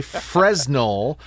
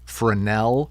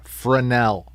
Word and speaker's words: Fresnel: The S is silent. It is a proper name. Goddamn it. And if you say Fresno, I don't care what your name is.